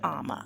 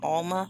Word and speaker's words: Ama: in America from Ghana, I go by the name of Ama. It's spelled A-M-A. I know some of you are saying Alma. That's okay. Maybe that's the way it sounds when I say it.